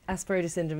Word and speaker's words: Asperger's syndrome: Is that, Yeah, that's how yeah, it's pronounced that's properly? Asperger's syndrome, yeah, that's who I'm working with at the moment.